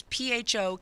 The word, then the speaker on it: pho: It's PHO King. Pho. But the PHO is spelled pho. Pho, yes.